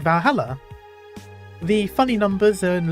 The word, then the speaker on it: Valhalla: going to close Valhalla the name sounds silly and a bit hard to pronounce good thing actually called valala the funny numbers and